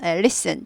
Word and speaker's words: listen: listen. T가 묵음입니다. listen 하자고. listen. T가 묵음. 발음하지 않습니다.